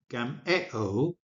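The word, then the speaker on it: γαμέω: However, the verb form, and I'll use the Erasmian pronunciation, gameo, or the contracted form, gamo, is not acceptable in modern Greek.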